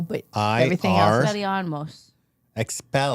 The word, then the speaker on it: Expelliarmus: How do you spell it? EXPELLIAROMS. L. No O, but everything else. Expelliarmus.